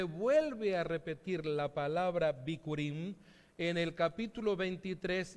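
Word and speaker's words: בכורים: La primera es bikurim, así se pronuncia en el hebreo, seguramente lo escribimos de otra manera, pero la pronunciación es bikurim.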